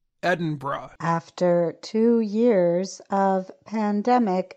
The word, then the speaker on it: Edinburgh: dinosaurs and many people learned the correct way to say the capital city of Scotland during televised Memorial services for Britain's Queen Elizabeth II many people say Edinburgh but locals say Edinburgh after two years of